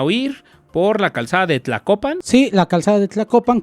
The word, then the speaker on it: Tlacopan: Tlacopan.